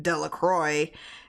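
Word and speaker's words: Delacroix: Jones and Dicky delaqua the villagers pronounced the name Delroy eventually made a great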